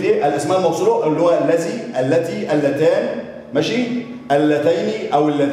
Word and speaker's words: الذي: هنا بقى في كلمة الذي، خد بالك بقى، اللام تنطق ولكن لا تكتب. اللام تنطق ولكن ليه؟ لا تكتب.